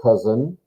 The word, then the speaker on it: Cousin: This is a masculine cousin. A male cousin is called der Cousin. And that's how it's pronounced. It doesn't follow the German pronunciation, it's French, but der Cousin.